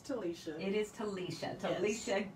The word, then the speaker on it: Talisha: It's Talisha.